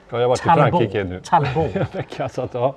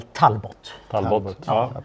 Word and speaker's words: Talbot: Det franska uttalet Talbo i Sverige säger man väl Talbot som ju det var